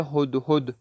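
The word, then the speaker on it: هدهد: ہدہد پڑھا جاتا ہے، شاید اردو میں شاید تلفظ میں ہدہد پڑھتے شاید، لیکن فارس زبان میں پڑھا جاتا ہے ہدہد، ہا ہے ہو سے،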